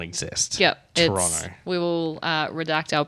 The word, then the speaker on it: Toronto: we mentioned something about Toronto and we pronounce the second T in Toronto and I was like not anymore it doesn't exist just like the second